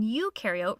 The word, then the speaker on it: eukaryote: rhymes with no and you in eukaryote rhymes with do prokaryotic cells have no